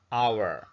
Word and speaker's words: hour: Nouns beginning with H but pronounced as vowels should be preceded by an, like in hour.